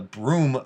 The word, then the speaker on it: Broome: um it's called the broome bridge because it's in ireland it's spelled all weird it's like b-r-o-u-g i don't know something something weird but it's pronounced the broom bridge and that's this guy